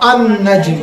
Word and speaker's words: النجم: لام کا تلفظ ہوا؟ تلفظ نہیں ہو رہا ہے.